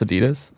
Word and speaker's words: Adidas: What's Adidas? Is that how you pronounce Adidas? In Germany, yeah.